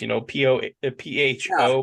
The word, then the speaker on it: pho: So like there's pho places, PHO, but it's pronounced pho.